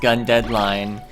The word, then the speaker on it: GundeadliGne: hello cler gun deadline just ignore that big G in the middle of the word line it's pronounced gun deadline I'm going to play